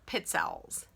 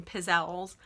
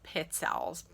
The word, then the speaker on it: pizzelle: just for christmas but they are pit cells some people pronounce them pizzelles or pixels it is pit cells i don't care how